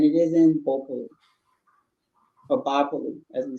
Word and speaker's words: Bopolu: Today, this place is spelled Totokole, and it is in Bopolu, or Bopolu, as we say, okay?